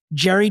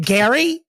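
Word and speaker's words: Gerry: this week that's right Jerry Turner he the golden Bachelor and his wife is it Gary why do I say Jerry all the time but it's like spelled like Jerry but it's Gary but it's not then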